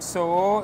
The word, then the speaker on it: Soho: Ok, donc Soho, c'est comme ça en anglais. Hein? Exactement, Soho. Soho, ok. Voilà, n'oubliez pas le H. Voilà, faut bien prononcer le H, sinon ils ne comprennent pas.